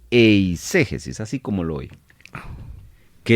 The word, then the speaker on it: eiségesis: latina s e g e s i s eiségesis así como lo Oye que es muy distinto